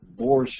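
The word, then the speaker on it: borscht: yeah and uh so so Professor Marston borsche is spelled in English b-o-r-s-c-h-t there are several variations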